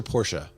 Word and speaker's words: Porsche: Is it Porsche or Porsche? It's two syllables if you ask the Germans.